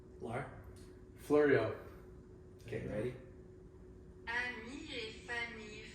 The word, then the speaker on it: Fleuriau: Fleuriau.